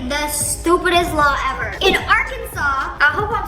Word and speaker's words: Arkansas: So it's 3 syllables. Arkansas. Or is it Arkansas? I don't know.